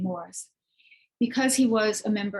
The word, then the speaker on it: Morrice: And I should mention that I'm using the Anglo-British pronunciation of the last name Morrice, because he was a